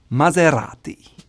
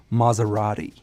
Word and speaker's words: Maserati: Now the proper way to say it is Maserati. Again, you have that rolled R that comes from the tongue, R, Maserati. It's not like a soft S like Maserati.